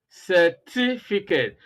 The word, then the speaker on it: certificate: three and number four so you have four syllables here and stress is on the second syllable so that's exactly what